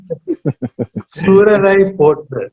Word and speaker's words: Soorarai Pottru: If my pronunciation is wrong, please correct it, sir. Soorarai pottru.